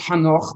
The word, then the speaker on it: Ḥanokh: Yeah, it's pronounced Hanoch, but you're doing really well.